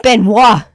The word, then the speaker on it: Benoit: It's like Benoit. Half of the fucking name is silent.